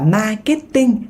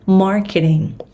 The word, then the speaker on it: marketing: Nhấn âm 1 trong từ marketing nha. Tiếng Việt mình đọc là marketing, nhưng mà tiếng Anh nó sẽ là marketing. Marketing. Âm này là âm A dài.